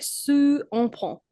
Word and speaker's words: sous un pont: On va se retrouver sous un pont. Oh, you missed the liaison. Can you find it?